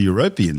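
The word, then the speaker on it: Europan: And like Earth's mid-ocean ridges, it's possible the European seafloor, and yes, that's how you say it, may host volcanoes, which could then provide more energy and nutrients for a potential biosphere.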